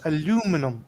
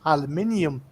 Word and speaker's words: aluminium: it right so um you guys pronounce it aluminum okay whereas most people in Europe pronounce it aluminium uh do you find